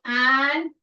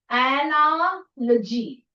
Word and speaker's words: analogy: Analogy. Okay. So this is like you break it this way because we did anology. So it is like three words, three syllables and so it is called analogy.